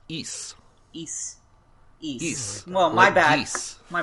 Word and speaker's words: Ys: well the first thing is that it's not pronounced ease it's pronounced e east east well my bad my bad fine I